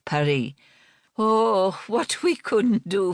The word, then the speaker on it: Paris: Yes, she pronounced the city's name in the French way. Perry.